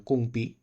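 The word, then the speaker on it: gongbi: Terus dinasti Han, di sini kita bisa lihat ada dimulainya salah satu gaya painting yang namanya Kung Pi nanti di situ. Tulisannya sih Gong Bi, cuman bacanya nggak seperti itu.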